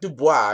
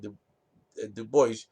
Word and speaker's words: Du Bois: Du Bois, it's not Du Bois, it's the American, you pronounce it American, Du Bois, did not like each other.